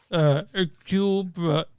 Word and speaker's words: Hercule: Directed, this stars the amazing Kenneth Branaugh is Hercule Poirot. The H is silent.